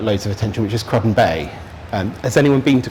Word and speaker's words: Cruden Bay: probably doesn't get loads of attention which is cruden Bay um has anyone been to crudden Bay a coup cruden I see I knew there was going to be something okay cruden bay I'm going to have to relearn that pronunciation